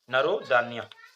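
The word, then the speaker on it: Narodnaya: है वह है नरो नरो दन्या ठीक है उनका कुछ प्रोनंसिएशन और है हमारा नरो दनाया या कुछ ऐसा वो लोग थोड़ा डिफरेंट प्रोनंसिएशन करते हैं लेकिन हम लोग स्पेलिंग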